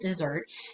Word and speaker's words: desert: It is just one S. And I know that the dessert that you eat is 2 S's, but you do pronounce it dessert.